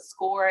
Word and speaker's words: SCOIR: You may have heard about SCORE a lot starting last year, but SCORE is spelled SCOIR. It doesn't necessarily look like it's pronounced SCORE, but that is what we use internally to send, to communicate with the Common App.